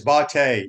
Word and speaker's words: Bhatia: So Bhatia was it's Bate is how they pronounce his last name, JC.